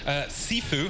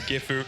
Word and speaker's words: Gifu: Penta Esports, Sifu, who I have been pronouncing wrong for many, many weeks, is Gifu, Epsilon, G-Bots, a lot of big names in here.